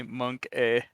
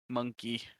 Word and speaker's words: Monke: It's just funny, Monk A. Like it's if you guys haven't looked at the blog, it's spelled Monke, so it's monkey.